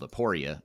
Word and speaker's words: Aporia: last name is hasten h-a-s-o-n and the company is spelled aporia a-p-o-r-i-a but what is the website address if